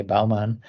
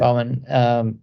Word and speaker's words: Baumann: I just pronounce it a German way, Baumann. Yeah. Baumann, 37.